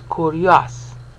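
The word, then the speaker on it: κύριος: section of this increment, kurios, three syllables. Paul uses three syllables. Luke uses three syllables. Matthew, Hebraistically, treats the io as yo. So it's kurios.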